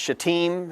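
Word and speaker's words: Shittim: It's Shatim. It's not the alternative that it looks like.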